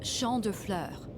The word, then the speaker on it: Champ de Fleurs: Champ de Fleurs. Oh, is it the flower shop? The floors? How do you say that? Champ de Fleurs. It's Champ de Fleurs. It means field of flowers.